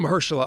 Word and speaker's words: Mahershala: I'll fuck his name up if I pronounce it. Sorry. What is it? Sorry, while I'm working. It's Marshall Ali. That's it. Mahershala Mahershala Ali.